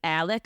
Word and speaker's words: Alex: And then we have Richard Alexander Murdaugh, known as Alex, but for some reason everyone pronounces it Alec, so we'll be calling him Alec, and that's the dad.